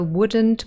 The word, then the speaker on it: wouldn't: silent in all three so wouldn't couldn't shouldn't also have a silent l and when we say